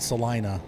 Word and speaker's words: Celina: this is pretty look at that is it celina or selena it's probably selena in ohio we call it celina because everything in ohio's hard eyes we have